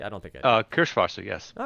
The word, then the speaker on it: Kirschwasser: Did I pronounce either of those words correctly? I don't think I did. Kirschwasser, yes.